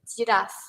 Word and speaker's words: giraffe: mostly I heard that people will pronounce this animal giraffe. Giraffe. Oh, I can see there's a giraffe there. It sounds just normal, but it's not that correct pronunciation on you to pronounce the word of giraffe.